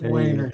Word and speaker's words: Wainer: But it's Wainer, yeah. None of those German ladies that's true Germans can hardly pronounce a W. They always say Vainer.